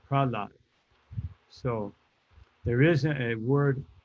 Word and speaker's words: Prahlad: So it's not offensive, it's not bad, but the proper way is Prahlad, not Prahalada.